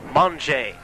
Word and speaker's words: Monge: I was given instructions from Matt Flake to pronounce that name Monge.